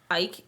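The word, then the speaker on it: Icke: I grew up with David Ick and I've been reading that stuff since I was a kid.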